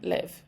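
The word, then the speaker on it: libh: there's more than two people as well Sloan live Sloan lived to more than one person now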